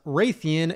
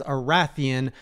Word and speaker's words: Rathian: first is that it's not pronounced raytheon it's arathian and the next is